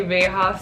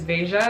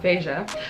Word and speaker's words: Veja: I want to say Veja so bad, but it's Veja because I was listening to a podcast with Jeff Staples and he was interviewing the founder of this company, and it's pronounced Veja.